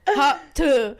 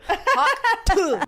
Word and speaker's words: Hawk Tuah: You gotta put like an emphasis on it, like tuh. You know, like really. Yeah. Say it. All right, all together. Hawk Tuah. Hawk tuh. Now we've got the school of Hawk Tuah. She is literally teaching us how to say it. Now, what have we become as a society?